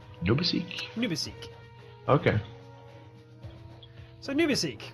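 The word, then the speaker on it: НУБАСИК: I've been told by a Russian viewer that HY6ACYK is pronounced as Nubisik. Nubisik? Nubisik.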